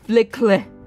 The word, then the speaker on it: FLCL: Is it pronounced Fooly Cooly? Really? thinking like flickle in my head.